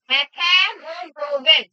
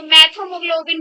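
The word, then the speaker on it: methemoglobin: एक और नाम होता है, एक और नाम लिख लो, मेथेमोग्लोबिन। बेसिकली हीमोग्लोबिन के आगे मेट लग जाएगा, MET मेट, तो प्रोनाउंसिएशन अलग हो जाएगी क्योंकि TH आ गया साथ में। अब तो मैथोमोग्लोबिन बोलते हैं इसको, क्या बोलते हैं?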